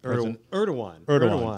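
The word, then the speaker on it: Erdoğan: Erdogan.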